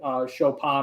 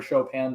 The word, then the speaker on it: Chopin: really love the romantic era and uh frederick chopin or chopin depending on how you choose to pronounce that he's on my wall behind me